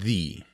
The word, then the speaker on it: the: is actually a rule you say the before a consonant or thee before a vowel as in after dinner